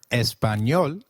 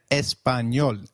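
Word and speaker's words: español: The letter A is pronounced as a as in father. Did you notice the letter in espanol? This letter is peculiar to Spanish. It is pronounced as ni like in canyon.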